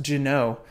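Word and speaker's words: Ginault: gin oh I have it I'm told it's pronounced gin oh this American brand but the Genoa I have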